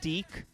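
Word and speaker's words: DiC: in cereals oh yeah you know the company deke it's about like d-i-c but it's pronounced d oh yes and they make children's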